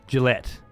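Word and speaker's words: gilet: wear with a tie we call it a Gillette pronounced Gillette Gillette like the razor a waste coat yeah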